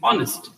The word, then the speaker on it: honest: h that is her letter but it is pronounced with all sound yes it is not honest it is honest it begins with all sound honest and when